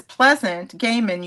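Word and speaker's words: Pleasant Gehman: And simultaneous to me doing this, Pleasant Gaiman, you did pronounce her name correctly.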